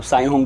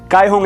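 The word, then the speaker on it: Kaihong: कायहोंग करके एक ब्रांड है चाइनीज़, आप साइहोंग बुला लो, कुछ लोग कायहोंग बुलाते हैं, जो भी उनका नाम होता है, थोड़ा कंफ्यूजिंग होता है। कायहोंग एक्चुअली प्रोनाउंसिएशन है उसका, ऐसा कहा जाता है।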